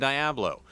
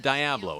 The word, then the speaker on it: Diablo: As the dams were built, Seattle City Light created 2 company towns, New Halem and Diablo, to house workers and their families. Workers up here pronounce it Diablo and not Diablo, and they still live in both of these company towns.